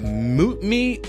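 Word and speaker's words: Mtume: Oh, how you pronounce that? Mutme, M-T-U-M-E, Juicy Fruit.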